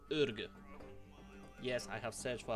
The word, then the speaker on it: Orgoo: For the first ruler, we are going to go to Mongolian part of the world, to county called Orgoo. Yes, I have searched for a proper pronunciation, because there's our young 16 years old